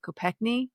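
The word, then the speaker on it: Kopechne: it ended up killing his passenger Mary Joe Copekney, I believe, is how you say your name.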